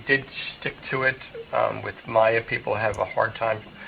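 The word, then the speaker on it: Maire: I have Megan, and I have Maya, and Maya is spelled M-A-I-R. So my wife originally was an Irish speaker, so she spoke Gaelic growing up, and she learned English till later.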